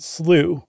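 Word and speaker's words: slough: America or how it's spelled in America you pronounce it slooh yeah and um you punctuate it with an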